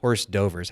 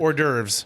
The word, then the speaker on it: hors d'oeuvres: whatever the all right it's not horse dovers how do you actually pronounce it hors d'oeuvres hors d'oeuvres I thought